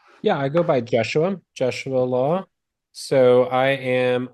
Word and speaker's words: Jesua: Uh, Law. Did I pronounce the first name correctly? Yeah, I go by Joshua.